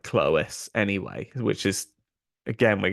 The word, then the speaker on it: Clovis: So Clovis should really pronounce something like Clois anyway, which is, again, we're getting closer to Clois.